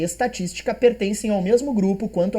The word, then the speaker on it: estatística: Estatística, antepenúltima é mais forte, proparoxítona real.